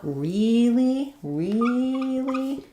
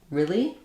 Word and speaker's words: really: So typically, if I'm stressing on this word, I might use 2 E's. Like if I'm dragging it out, really, but most of the time I'm going to actually use an I vowel, really, because we're using it, we're not stressing on that word.